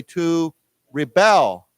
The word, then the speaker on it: rebel: slightly differently we say to Rebel okay to Rebel so the accent goes on the second syllable so we say he